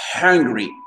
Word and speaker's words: hungry: Ensuite, le fait de dire hungry. Hungry, ici, on avait le H aspiré. Hungry. C'est-à-dire avoir faim. L'accent tonique sur la première syllabe.